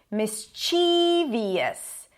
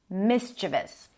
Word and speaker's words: mischievous: A common mistake is to say this word as mischievous. Mischievous, probably because of the spelling. But the stress is on the first syllable, mischievous.